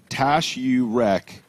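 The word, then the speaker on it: Taşyürek: Hakan in YouTube chat says, Tash you wreck. That's how you say his name.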